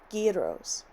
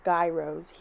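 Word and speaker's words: gyros: out this restaurant that served guos now I've heard of Jos or gyos here in America and of course hearing from Tong that this was the correct pronunciation my roommates and I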